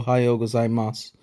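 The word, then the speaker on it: ございます: couple notes on pronunciation if you listen carefully to oh gazai Mas you'll notice that it sounds almost like oh gai Mas with no final u sound um this is this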